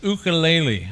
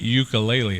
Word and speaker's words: ukulele: That's right, it's the ukulele. I've been told I've been pronouncing that wrong. It's not ukulele, it's ukulele.